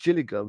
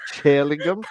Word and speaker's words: Gillingham: So basically, instead of saying Gillingham, she said chill, like Chillingham, That's how like a it's cold.